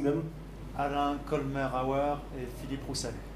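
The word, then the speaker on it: Alain Colmerauer: Alain Colmer-Auer and Philippe Roussel. Okay, I have been pronouncing apparently Alain wrong before.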